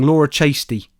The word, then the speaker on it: Chasty: Laura Chastity, is that her name? No, I've just said it wrong. Laura Chasty.